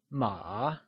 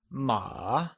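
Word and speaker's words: 马: Mandarin hoarse translates to ma and it is pronounced using a falling rising tone or the third tone can you try and say ma once again with the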